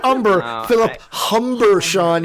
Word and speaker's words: Humber: Not Humber, Philip Humber, Sean. You got to say it right. Humber. Hard H.